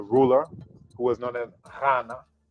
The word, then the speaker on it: Ghana: who was known as Ghana. So it's not a G sound either. People in the country called Ghana, they actually can't even pronounce it right, but the GH is a R sound, R.